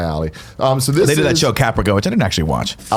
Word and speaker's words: Caprica: your pronunciation of Caprica he said paprika which I like it's like paprika oh I've no I don't know what that word is that Battlestar Galactica reference Caprica sounds more up my alley so they